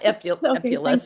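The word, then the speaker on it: epulis: Um and I try to brush his teeth and also on the epol. Is that pronounced correctly? Yeah, that's fine. You're you're doing great. Yeah, epulus.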